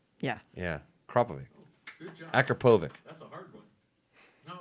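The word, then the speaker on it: Akrapovič: Akrapovic. That's a hard one. No, it's a Kropovich. Kropovich.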